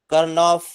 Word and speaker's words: Karnaugh: new topic that is KARNAUGH, Karnaugh map. You will pronounce this as Karnaugh map, NAUGH, Karnaugh map, which is called in